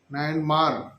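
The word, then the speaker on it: नायनमार: में जो संत नयन नयन मर म्यामार ना समझिए वर्मा को जो आज का नाम म्यामार है नायन मर नायन मार स्पष्ट रूप से उच्चारण क नायन मर ऐसे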